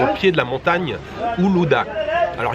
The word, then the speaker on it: Uludağ: pied de la montagne Uludağ. Alors il y a un G avec un accent à la fin, mais je crois qu'en turc ça se prononce pas. Donc montagne Uludağ.